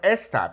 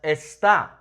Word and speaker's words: esta: Also, I underlined esta because do not pronounce this as está, okay? It's two different things. Está meaning is, whereas esta is the feminine meaning this, okay?